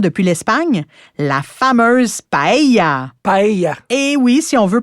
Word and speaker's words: paella: Paella. Et oui, si on veut prononcer à l'espagnol, on dit paella et non paella.